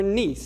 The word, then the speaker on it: Nice: this stuff so I'm super excited especially for niece so this is nice not pronounced nice but pronounced nice and um we